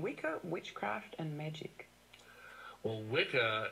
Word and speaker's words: Wicca: Well, Wicca, it's actually the it's pronounced Witcher, really. It's the old Anglo-Saxon word that means bent or twisted originally, but it's the origin of our word witch.